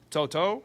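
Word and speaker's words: To'oTo'o: Linebacker we have Henry Toto.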